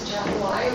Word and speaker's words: Atchafalaya: and we want everybody to know how to pronounce Atchafalaya.